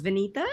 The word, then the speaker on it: Vineeta: say it for us yes my name is Venita oh it's powerful I love it